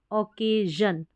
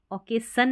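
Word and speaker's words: occasion: है, तो ओ के, डबल सी ए, ओ के, और एस आई ओ एन को ओकेजन, ओकेसन नहीं पढ़ेंगे, ओकेजन, तो एस आई ओ एन यहाँ पर जन पढ़ा गया है।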